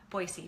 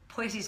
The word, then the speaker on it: Boise: But Boise, pardon me, I say it wrong. I've been told quite a few times.